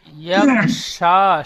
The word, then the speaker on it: يغشى: والليل إذا يغشى ইয়াগশা, শিন, শেষে শিন অক্ষরটি সিনের মতো উচ্চারণ হচ্ছে একটু।